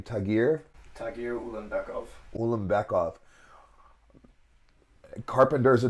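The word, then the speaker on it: Ulanbekov: ranked fight good for him how do you pronounce that name tagir tagir ul beckov ul beckov Carpenter is a dog tagir is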